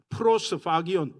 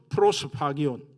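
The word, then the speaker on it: προσφάγιον: 프로스파기온, PH 발음입니다. 프로스파기온.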